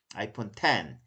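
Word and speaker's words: iPhone X: X는 10인 것은 뭐 어머니들이 아이폰 X라고 할 때 아이폰 이거 X라고 읽으면 좀 많이 창피한 거죠. 그 아이폰 10이라고 읽어야 되죠. 그쵸? 뭐 아이폰 XR은 10R 그렇게 읽어야지 어머니가 적어도 나는 로마 숫자를 잘 알고 있어.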